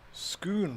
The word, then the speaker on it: Scone: ah Jake Wilkinson says Scone Palace is not pronounced in either of the two disputed ways of the lovely little baked Jammy cake it rhymes with spoon schoon purse so I suppose